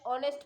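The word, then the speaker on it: honest: वाला ही है एग्जाम्पल, जहाँ एच साइलेंट है बट बोलने में जो है वो ऑनेस्ट है, लिखने में होनेस्ट है।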